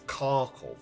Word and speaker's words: Kharkov: Because nowadays it's Kharkiv, but back then it's Kharkov, because it's the Russian pronunciation.